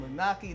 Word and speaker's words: Moonachie: Did I pronounce it right? Yes, Moonachie? you did. Yes, all right. you did. We're up here in Moonachie, New Jersey.